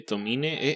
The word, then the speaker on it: Tomine: Beto, me intrigó porque dijiste Adrián Tomain y después dijiste Tomine. ¿Es Tomine? Según yo es Tomin, no pronuncia la E del final, pero hay quien dice Tomain, entonces a veces digo una por otra, pero según yo es Adrian Tomain.